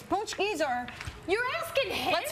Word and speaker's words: pączki: these how do you say Richard roer it's punchies or you're asking hit let's phone our let